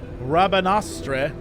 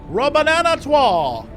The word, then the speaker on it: Rabanastre: I let my emotions get the better of me after what happened in Rabanastre.